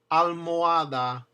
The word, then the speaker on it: almohada: And when it's in the middle of the word between two vowels, it means you pronounce each vowel separately and it divides the syllable. Almohada, almohada.